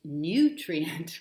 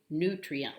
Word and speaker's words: nutrient: for the word nutrient, their pronunciation is nutrient with a little Y stuck in there. And that's acceptable, but the preferred pronunciations that I could find were actually nutrient, like NEW rather than NYU, nutrient. But if you want to say it either way, it's fine.